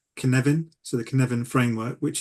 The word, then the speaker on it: Cynefin: it's spelled differently, but I think it's the proper pronunciation, I think, is Cynefin.